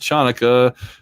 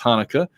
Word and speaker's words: Hanukkah: name from saturday night live says it's not pronounced chanukah the sea is silent in hanukkah there's a lot of different ways to pronounce it but it's hanukkah and this is the eight day festival of